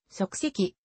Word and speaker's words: 足跡: なる警察が用いる例えば犯人の足跡という言葉において足跡は足跡と読むまたソーシャルネットワーキング